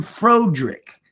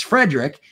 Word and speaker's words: Frederick: Do you now pronounce your name Frodrick?" And he's like, "No, it's Frederick."